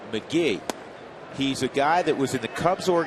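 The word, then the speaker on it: McGehee: Felipe Lopez that's why Lopez is key it's pronounced McGee he's a guy that was in the Cubs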